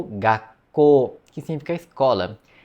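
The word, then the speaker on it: 学校: O Ku vira um Tsuzinho pequeno. Em vez de ser Gakuko, vira Gakko.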